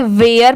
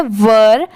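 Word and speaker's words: were: बहुत सारे लोग इसे गलत प्रोनाउंस करते हैं। इसे वेयर पढ़ते हैं। बट यह रॉन्ग होता है। इसकी प्रोनाउंसिएशन है वर।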